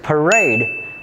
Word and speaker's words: parade: The answer is parade because it has stress on the second syllable while the other three have stress on the first syllable.